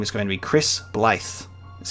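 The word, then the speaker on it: Blaidd: And it's actually Welsh, and it's pronounced Blythe, and it's Welsh for wolf.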